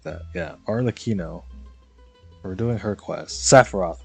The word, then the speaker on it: Arlecchino: Oh, we're gonna do dude, how do you pronounce her name again? It was Arlecchino or something like that. Yeah, Arlecchino.